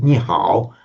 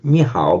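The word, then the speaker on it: 你好: Now, if you pronounce, you would not say ni on its own. You'd say ni. It's a third tone word.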